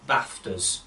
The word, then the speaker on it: BAFTAs: Good evening everybody and welcome to the 2020 Bingham Cricket Club BAFTAs, which are the Bingham Cricket Club Awards for Tremendous Cricket Achievements. Yes, the C is silent.